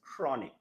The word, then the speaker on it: chronic: Okay, so we don't say the H, we just say chronic. We write the H, but we don't pronounce it. So the correct way to pronounce this word is chronic.